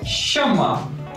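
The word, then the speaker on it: 什么: Next one is shema, S-H-E-M-M-E. S-H-E-M-M-E. Shema. How to pronounce?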